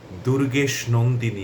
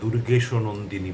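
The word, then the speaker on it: দুর্গেশনন্দিনী: কামধেনু রাজনীতি শিবরাত্রি সংবাদপত্র দুর্গেশ নন্দিনী আমরা দুর্গেশও নন্দিনী বলি না হেমচন্দ্র মেঘদূত আমরা কখনোই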